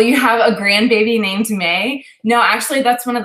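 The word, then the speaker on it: Mae: So my middle name is May and it's spelled M-A-E.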